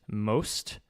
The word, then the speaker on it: Most: So the American that I am pronounced it most, but it is pronounced Most.